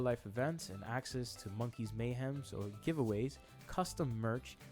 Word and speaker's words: Monkeez: So the MNKZ token, I believe it's pronounced Monkeez token.